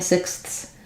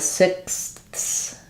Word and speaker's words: sixth: in a row fortunately if I'm saying sixth I can kind of cheat a little bit there with sixs um where I'm kind of stopping the air the S and the th go together a little bit they're both continuing frickative so I'm just after I stop for the six the can just kind of run together as one and then come back so my tongue is behind